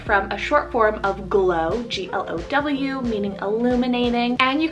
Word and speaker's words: Glo: G is extremely hard for me to find a name that's kind of unique sounding, but I love the name Glow, spelled G-L-O. Glow.